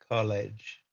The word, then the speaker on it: college: uh rowing team okay when you pronounce College try to pronounce that l sound College ah College college College in college what's the